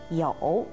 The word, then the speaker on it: 酉: 立的一个字，读作酉。